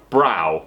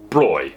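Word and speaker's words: Bräu: this word is pronounced brow which kind of is except for in Bavaria as far as I know it's pronounced broy so we're gonna start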